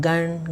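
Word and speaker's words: गं: इसमें म नहीं आना चाहिए बोलते हुए। आप जब गण बोलेंगे तो वो आप नाक से बोलेंगे, ठीक है, आपको नाक से बोलना, उच्चारण उसका नाक से होना चाहिए, गण गण गण, इस तरीके से आपको उच्चारण करना है।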